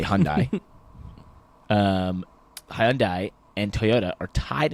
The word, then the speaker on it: Hyundai: So I like to say Hyundai. You say Hyundai.